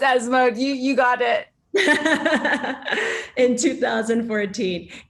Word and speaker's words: ESMOD: I'm not going to pronounce it with my American accent. It's ESMOD.